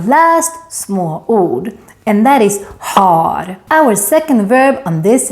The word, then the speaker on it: har: But if you're going to say it, you need to say it right. And don't mix it up with the word hår, hair, or här, here. It is actually very common to mix up har with här.